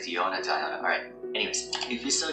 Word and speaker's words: Diona: Okay, so earlier I mispronounced her name as Diona. I keep doing that. It's like Diona.